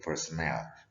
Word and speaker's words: personnel: Ini personnel, bukan personal. Tulisannya beda ya spellingnya ya. How do you pronounce this word? It should be pronounced personnel. Ya, oke. Kalau personal, the spelling is P-E-R-S-O-N-A-L. Personal. Kalau ini personnel.